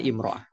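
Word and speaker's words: امرأة: Di sini almarah biduni al bacanya imraah. Kalau pakai al bacanya almara kalau tanpa al imraah.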